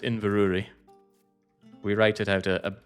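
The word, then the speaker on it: Inverurie: And yes, that is that is pronounced Invuri.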